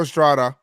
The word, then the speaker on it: Estrada: the seventh inning tire Estrada who it's you know you gotta roll your gutter you gotta you roll your R's now four times twice